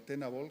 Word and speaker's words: Tenable: por centrarnos lo que hace lo que hace tenable o tenable que es como se pronuncia en inglés igual nos conocéis mucho más